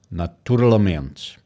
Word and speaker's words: naturalmente: Now, Portuguese on the other side is that the focus on the part of the sent is not in the beginning like in English. It's naturalmente. So it is actually not in the first syllable.